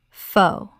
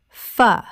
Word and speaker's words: phở: Common mispronunciation: pho. Correct pronunciation: fuh. This Vietnamese soup is one of the most mispronounced words in any language.